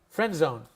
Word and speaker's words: friend zone: Now, we don't pronounce it friend zone. We pronounce it, let me see if I can do this, friend zone. It's that ghost letter, the ghost D. It means it's not there, but we hear it, the friend zone. When we hear friend zone, no D is pronounced, we hear the D.